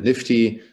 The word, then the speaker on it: NFT: And some folks pronounce it Nifty.